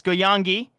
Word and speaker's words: Goyangi: Did get word from our producer letting us know, remembering that we got a pronunciation sheet. It's Goyangi, and of course, if there's